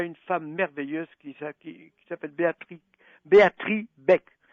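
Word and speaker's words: Béatrix: femme merveilleuse qui s'appelle Béatrice Beck. Ça s'écrit avec un X et le X se prononce pas.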